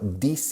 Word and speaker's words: this: No estoy diciendo this is, this. Estoy diciendo this. Saco la lengua y lo coloco debajo de los dientes frontales.